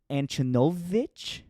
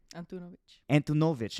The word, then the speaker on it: Antunović: It's Antunović. Yeah, that's actually pretty close. Antunovic. Okay, I was close because I feel like it could be pronounced Antun or Antunovic. So most people say Antunovic.